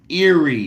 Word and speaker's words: Erie: exist do aie really exist probably not it's Eerie nigga Eerie Pennsylvania not a nigga I hate people that can't pronounce words especially old niggas s you know why cuz you don't got a life where's area anyway share this video hit the like button